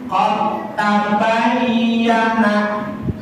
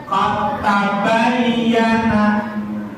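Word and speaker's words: قَدْ تَبَيَّنَ: Awalnya qad tabayyana, karena ini ba dengan ta, dia termasuk ke dalam hukum idgham muqtada disai, maka seolah-olah dia langsung menghentakkan di sini qad, jadi dibacanya qad tabayyana, qad tabayyana.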